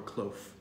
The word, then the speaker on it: cloth: So tongue just under your two front teeth here, and you just blow air. Perfect.